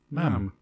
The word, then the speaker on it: ma'am: And then forevermore, ma'am. It rhymes with jam and ham.